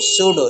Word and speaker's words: pseudo: Okay, yes पी, उसकी spelling क्या है सूडो की, PSEUDO, सूडो। सूडो का मतलब क्या होता है, फॉल्स।